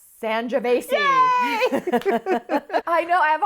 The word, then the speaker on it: Sangiovese: Sl- It rhymes with Schmangiavesi. Sangiovese.